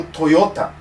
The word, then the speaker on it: Toyota: pronúncia de algumas palavras toyota é uma delas eles falam toyota que é sem o acento agudo é por exemplo coisas